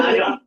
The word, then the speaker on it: Mahjong: only for the- Mahjong. No R. I'm from New York, I'm saying Marshall.